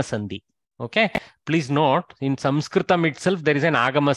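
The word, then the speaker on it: संस्कृतम्: Samkritya, Samkritam. You see, you try to eliminate the sakara, your mouth struggles with the word. Samkritya, some jump from anuswara to kakara is very harsh on the mouth.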